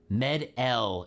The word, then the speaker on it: Medel: Med-L is how you say Medel. Wes's last name. Med-L. Wes Med-L. Okay. We can make, I can, it's like French.